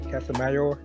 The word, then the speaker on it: Casimero: Can I pronounce the name? Casimero?